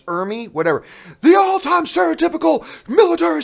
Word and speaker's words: Ermey: I used to say Emery, but then people correct me and says, actually, it's Ermey, whatever.